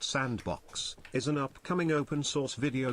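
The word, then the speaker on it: s&box: Sandbox, pronounced sandbox, is an upcoming open-source video game development platform and engine by Face Punch Studios.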